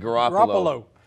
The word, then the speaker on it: Garoppolo: Garoppolo, who's, you know, had a great career with,